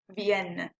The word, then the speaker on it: vienne: the sound here because there's two ends we're pronouncing the ends vienne and notice that in